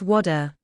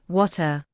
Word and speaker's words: water: In American English, the T often sounds like a soft D, so it's water. But in British English, the T is crisp, water.